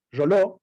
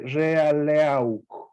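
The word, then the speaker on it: Reuleaux: nombrado yo al principio, Roló, o Realeau, se escribe Realeau, Roló.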